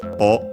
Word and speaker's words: を: Then we have the object particle o, written as wo and pronounced as such in careful speech and singing.